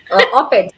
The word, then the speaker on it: op-ed: How do you pronounce? Op-ed, opinion Op-ed.